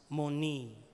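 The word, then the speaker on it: mone: Ang spelling niya ay M-O-N-E. And it's pronounced moni.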